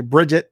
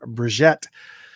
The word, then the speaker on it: Brigitte: she pronounces her name i say bridget but she pronounces her name brigette which was princess prince's